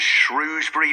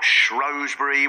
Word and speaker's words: Shrewsbury: near anybody rowing about how the town is pronounced there are groups such as shrewbury not shury with a website that claims it receives hundreds of messages of support and of course the shury not shrewbury set up in opposition um when all this